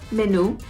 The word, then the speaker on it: menú: That's the informal, but tiene un menú, a menu. It's the same word, spelled the same. Menú, with the accent on the U, and there's an actual accent on there.